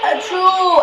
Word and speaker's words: Ertuğrul: The G is silent.